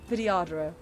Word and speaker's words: Vidyadhara: Vidyadhara.